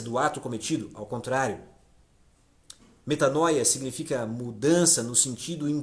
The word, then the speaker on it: metanoia: E no Novo Testamento, Pedro usa várias e várias vezes esta mesma palavra, que no grego pronuncia-se da seguinte forma: metanoia.